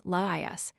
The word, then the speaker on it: Laïus: Laïus, pronounced as 3 syllables, Laïus, the last king of Thebes before Oedipus.